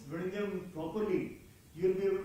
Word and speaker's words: Vizhinjam: So he said that look, that is not the way it is spelled. So that is not the way it is pronounced.